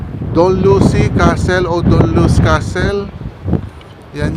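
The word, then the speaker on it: Dunluce: Ah angat naming destination to Doll Lu castle. Tama ba pronunciation to? Don Lucy. Don Lucy Castle Don Lu Castle.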